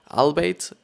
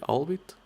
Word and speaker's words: albeit: a similar deal with which establishes your ballpark, albeit the best possible. How do I actually pronounce this? Albeit? Is it albeit?